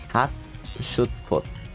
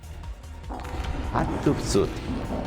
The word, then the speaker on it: Hatshepsut: Hatshepsut. Like this. How do I pronounce it? Let's ask the Google. How to pronounce. Hatshepsut.